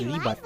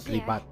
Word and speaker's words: Ribat: It's Ribat, not Ribat. I kept pronouncing as Ribat.